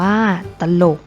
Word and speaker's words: ตลก: นํา อักษร ต่ำ เดียว เสียง ของ พยางค์ ที่ สอง จะ เปลี่ยน ไป ตาม อักษร ที่ เป็น ตัว นำ เช่น ตลก อ่าน ว่า ตลก จรวด อ่าน ว่า ว่า